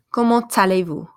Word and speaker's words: comment allez-vous: la roux and then this is gonna change when it's together because that T is gonna pull by that a to so kamut allez-vous okay let's try it again comment allez-vous Arabia error repete savithri